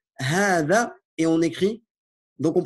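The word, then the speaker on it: هذا: La première syllabe est longue. Donc là, il t'explique un peu pourquoi. Regardez. Elle est longue, mais elle est écrite courte. Regardez. Elle est longue, bien que son allongement ne soit pas généralement marqué dans l'écriture ou marqué seulement par un alif subscrit.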